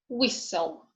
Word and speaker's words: whistle: T is silent in castle, whistle, listen, fasten, Christmas.